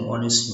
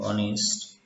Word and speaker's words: honest: for example he's an honest man she's a university student where H is silent in honest so its transition is